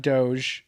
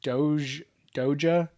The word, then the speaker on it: Doge: Hodl that Doge. Don't pronounce it Doja like Mark Cuban and Ellen did.